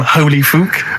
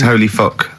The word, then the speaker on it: Holy Fook: You're not pronouncing it right, Steve. I know. I was just a bit edgy there. It's Holy Fuck, the little Chinese fella. Holy Fuck, the little funny Chinese fella.